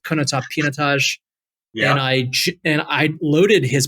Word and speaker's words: Pinotage: And at the end, Roelof, he goes, very good, but it's pronounced Pinotage.